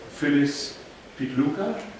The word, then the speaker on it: Phyllis Pitluga: And I would like to introduce Phyllis Pitluga. yes. Did I pronounce it correctly?